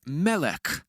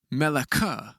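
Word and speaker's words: מֶלֶךְ: So take the word mel. Notice how I didn't say mela because the schwah at the end of the word means it's silent. So it's pronounced mel letting the final cough there have the last sound of the word.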